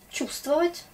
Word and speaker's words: Чувствовать: Чувствовать ou чувствовать. Il y a trop de consonnes dans ce mot, mais on ne prononce pas tout. Чувствовать, V, on s'en fout un peu.